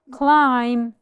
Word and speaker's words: climb: The W is silent climb climb perfect the letter b is my silent letter climb them when m